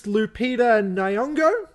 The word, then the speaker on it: Lupita Nyong'o: The main actress, Lupita Nyong'o, that's how you say her name, is officially